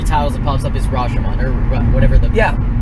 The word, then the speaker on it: Rashomon: are the three movies reduce freshman on I think is how you say Oh Rashomon yeah is that the one